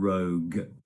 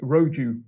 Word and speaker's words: rogue: e at the end we don't pronounce that we just end with that g sound rogue yeah it's not rogue roju rogi or no it's not rogue it's just rogue okay let's get a